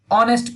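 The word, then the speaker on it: honest: और ही इज हॉनेस्ट, ऑनेस्ट पढ़ते हैं इसको, हॉ नहीं, एच इज साइलेंट।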